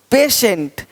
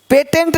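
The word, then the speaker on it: patient: है ही नहीं देखो पेशेंट पेटेंट नहीं पेशेंट पेटेंट पेशेंट पेटेंट पेशेंट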